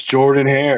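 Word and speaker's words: Jordan-Hare: It's Jordan Hare. Right? Jordan. Oh, Jordan. It's spelled Jordan.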